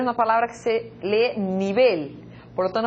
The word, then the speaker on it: nivel: La segunda palabra en portugués, nível. En español, nivel. Nivel. Inclusive, se nós tivéssemos a palavra nível pronunciada com a mesma sílaba tônica na língua espanhola, nós teríamos essa palavra acentuada.